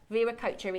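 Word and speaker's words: Viracocha: Ver coacher Viracher is the pronunciation of the god.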